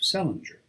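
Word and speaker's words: St. Leger: 1858 married an irishman of the name of sellinger which was the usual way of pronouncing the name of sanjay or as they spelled it scent ledger restored by later generations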